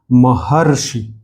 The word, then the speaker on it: महर्षि: But actually जब इसको हम पढ़ते हैं महर्षि तो पहले र पढ़ते हैं और फिर किसको पढ़ते हैं? शी को पढ़ते हैं। तो ये एक्चुअली लगा यहां पर है लेकिन इसका उच्चारण बीच में होता है।